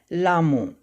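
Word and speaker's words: Lhamo: हु वॉज लामो, लामो कौन थी? तो यहाँ देखिए स्पेलिंग, और यहाँ पर एच जो है यहाँ पर साइलेंट है।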